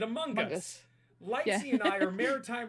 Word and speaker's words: Among Us: Okay, so I'm off topic here, but in the U.S., when we say Among Us, they pronounce the G in Among, so it's Among Us. Gaz said Among Us.